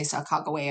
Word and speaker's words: Sacagawea: five all right and this is about sacagawea or uh some people pronounce it chicaga um and get i mean there's argument about it and the people who say sakakawe are certain that that's right but of course not